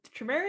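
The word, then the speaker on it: Tremere: the uh tremera tournament tremare is how you pronounce it yeah uh and i've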